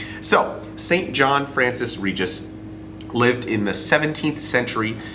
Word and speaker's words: Regis: regis was actually french so he probably wouldn't have pronounced it regis he probably would have said reggie but you know what we'll just say regis because i'm doing it today and we figure that